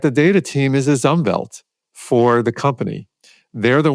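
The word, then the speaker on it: Umwelt: There's this German word um which is spelled with a W but it's pronounced with a V which describes the environmental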